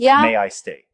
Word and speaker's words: May-I-Stay: There's this platform called May I Stay, pronounced May I stay.